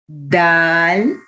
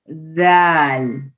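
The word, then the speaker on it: ذال: Tip of the tongue touches the edge of the upper teeth, edge of the upper teeth. And you can give the sound of zipper, the zipper, zipper.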